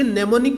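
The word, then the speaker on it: mnemonic: इसमें कुछ नेमोनिक codes होते हैं, कुछ नेमोनिक कोड होते हैं जिसमें जो कि प्रोग्रामिंग के लिए यूज किए जाते हैं। इसमें एम साइलेंट होता है।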